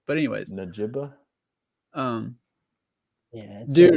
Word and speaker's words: Njigba: You usually don't pronounce the G and stuff like that. It's like just like a silent G you'd expect. But anyways, Njigba.